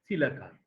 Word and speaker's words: coelacanth: In 1938, 3 years before I was born, a live coelacanth, this is the spelling by the pronunciation, coelacanth, okay?